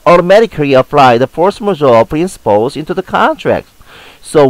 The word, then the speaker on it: force majeure: use international contract law, force majeure. A force majeure is a fancy word, means superior power. A French pronunciation is more like force majeure.